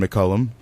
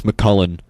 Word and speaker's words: McCullum: Hello, McCullum. Hello. One of Thank the you for other pronouncing it right. For some reason, everybody in this school thinks, besides you and my girlfriend, thinks it's McCullen.